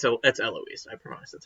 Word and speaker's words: Eloise: It's Eloise. I promise that's how it's pronounced.